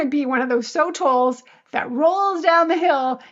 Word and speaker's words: sotol: And there's a plant, I don't know how to pronounce it. It's SOTOL, sotol.